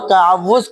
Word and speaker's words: تعوذ: صحیح مخرج پڑھنا ہے، صحیح انداز میں صحیح لہجے کے ساتھ پڑھنا ہے۔ تعوض تعوض اور تسمیہ کیسے سکھائیں؟ تو تعوذ کہتے ہیں اعوذ باللہ من الشیطان الرجیم، اس کو کیا کہتے ہیں؟